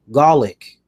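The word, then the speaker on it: Gulak: were going over here Drew Golic rhymes with attack GOC uh he is right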